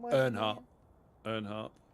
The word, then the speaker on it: Earnhardt: Earnhardt. again? Earnhardt. Earnhardt. Oh, like Dale Earnhardt, the NASCAR driver.